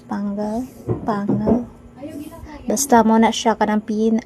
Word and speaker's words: Panguil: So, kini day siya nga video is pagdulong ni siya sa Pangal Bay Bridge or sa siya pag-pronounce Pangal.